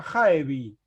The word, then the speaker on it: Jaevi: pero también se encuentra Jaevi, como que la E quedó sola y quedó convertida en una palabra de 3 sílabas, Ja-E-Vi.